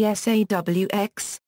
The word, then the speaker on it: Sawx: Recently, media has begun to casually call them the SAWX, reflecting how the word is pronounced with a New England accent.